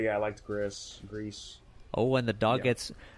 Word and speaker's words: Gris: That's from the developers of, I guess it's pronounced Grease, Gris.